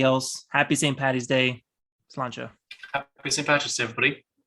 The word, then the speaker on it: Sláinte: So is that the correct pronunciation, Sláinte? Yeah, that's Sláinte, or Sláinte is how you'd say it.